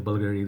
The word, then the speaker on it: Bvlgari: Some people say Bulgari, there's some people say Bulgari, some people say Bvlgari. So I think it's Bvlgari.